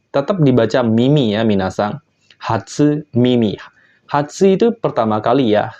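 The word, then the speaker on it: 初耳: berdiri sendiri seperti ini dia akan dibaca Mimi yang artinya telinga contoh yang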